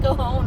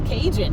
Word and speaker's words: Cajon: And yes, it's pronounced Cajon. I've lived out here for, 40-something years. And it's like, well, there's a J in it. And it's like, it's Cajun.